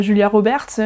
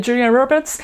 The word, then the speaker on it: Julia Roberts: plus à la radio, les noms d'acteurs qui sont prononcés à l'anglaise, correctement, c'est pas Brad Pitt et Julia Roberts, mais on le prononce avec un bon accent, Brad Pitt et Julia Roberts.